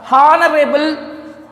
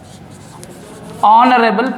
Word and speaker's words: honorable: Yes, honorable, honorable post అనుకుంటున్నాం. సో our honest, honorary, honorarium, heiress, honorable post. So in these words we never pronounce the letter H. It means H silent words.